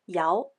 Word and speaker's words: 陶: The original meaning of Tao was a kiln used for firing pottery, pronounced Yao.